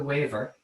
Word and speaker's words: Weaver: So Dennis Murphy's sister, Billy the Waver. The Waver was his family, the Wavers, the Murphys. It's spelled Weavers, Weavers.